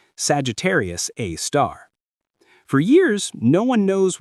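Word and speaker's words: Sagittarius A*: They call it Sagittarius A star, pronounced Sagittarius A star.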